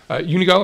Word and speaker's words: Unigo: So it's an exciting time, and we are pleased to have Jordan Goldman, who is the founder and CEO of Unigo. Am I pronouncing that correctly?